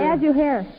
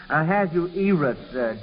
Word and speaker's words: Ahasuerus: Ahasuerus. Well, yes. I think it's pronounced Ahasuerus, Joel.